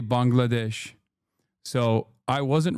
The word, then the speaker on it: Bangladesh: Now Turks are saying Turks used to say Bengalesh and now they say Bangladesh.